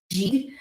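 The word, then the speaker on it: gigue: it actually is pronounced G and it is very similar to like a jig so I talked about how the violin used to play things like the music to this G is kind of a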